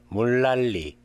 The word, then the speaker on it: 물난리: 물난리, 물난리. 줄넘기, 줄넘기. If nian is before or after rear nian is pronounced as rear, the same rule applies to